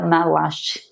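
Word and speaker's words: Maslach: Me perdoem se tiver errado, mas parece que pronuncia malaste.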